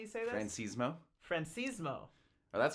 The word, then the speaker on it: Franchismo: better than me yeah how do you say it it's francismo and the funny story